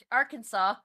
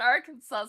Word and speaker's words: Arkansas: Steve Vendetta says, "Fish, why is the last S in Arkansas? I almost said Arkansas. Why is the last S in Arkansas silent?"